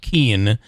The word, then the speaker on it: Kuehn: By the way, it's Kate, Kuehn, pronounced Keen, and she is the Chief Information Security Officer and CEO of what is the name of the company?